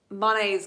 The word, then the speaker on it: Monet: Monet's garden, not to be confused with Monet's, because I was saying it incorrectly. The proper pronunciation is Monet.